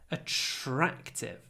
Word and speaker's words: attractive: has an attractive personality attractive lots of sh attractive a very short a a TR open your mouth a TR a TR